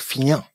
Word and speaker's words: fignan: faire c'est de vous traiter de fignan qu'on prononce finan quand bafousam te dit